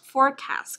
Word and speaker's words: forecast: Forecast cũng là âm đầu tiên, từ này có nghĩa là dự báo đấy đúng không? Trong từ dự báo thời tiết ấy, đúng không? Forecast, dự báo, nhớ chưa? Trọng âm đầu tiên.